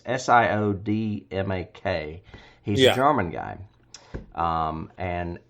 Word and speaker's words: Siodmak: I don't know how to pronounce his name, Kurt Siodmak. It's Siodmak.